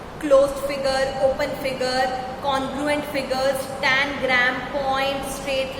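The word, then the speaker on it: congruent: Pronunciation सही करना, कॉन्ग्रुएंट, कॉन्ग्रुएंट, कॉन्ग्रुएंट figures, कॉन्ग्रुएंट figures.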